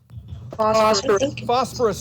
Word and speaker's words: phosphorus: on the periodic table so we know it begins with the letter p but when you pronounce it it sounds like it begins with the letter f phosphorus is right good let's